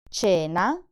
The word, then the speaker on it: cena: Cane, CHIARO, CENA, CUORE, CINEMA. So in the words cena and cinema, the C is soft because it's followed by the vowels E and I.